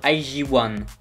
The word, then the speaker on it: IZ*ONE: que normalement elle dit on devrait dire aïe ziouane ça c'est la prononciation coréenne après je sais pas